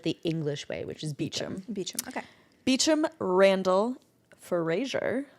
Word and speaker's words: Beauchamp: Is it Beauchamp? Beecham. Beecham. It's spelled so differently.